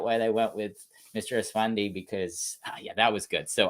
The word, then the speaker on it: Esfandi: Ayman Esfandi am I saying it right? Esfandi, yeah. Esfandi, yeah.